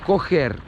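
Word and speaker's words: coger: Кохер. Пишется C-O-G-E-R. Как cougar.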